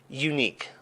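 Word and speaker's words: YNIQ: yeah really really cool stuff how do you pronounce the name of these unique oh yeah so i i know it's spelled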